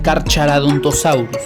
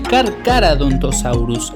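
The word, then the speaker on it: Carcharodontosaurus: Primero y principal, no se pronuncia carchaurus, se pronuncia carcaradontosaurus. La H es muda por lo que es cárcaradontosaurus.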